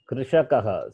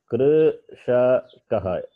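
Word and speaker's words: कृषकः: The vowel has to be pronounced as it is.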